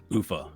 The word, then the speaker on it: Ufa: okay so uh headquarters we want it in Ufa that's how you pronounce it so just in the URLs this